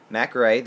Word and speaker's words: McCrae: Yes, I know it is spelled McCrae, but that's just simply not how you say it.